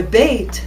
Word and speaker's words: Beit: Le Beit se prononce B, comme en français, c'est le son B.